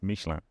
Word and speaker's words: Michelin: Well, so in in England or sorry, in English, we would say Michelin. Michelin. And I grew up saying Michelin. Yeah. But um I I actually do speak French and I have lived in France and it's Michelin.